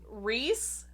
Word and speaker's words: Rhys: Maas came out and said that the correct pronunciation is, in fact, the short Rhys and Rhysand.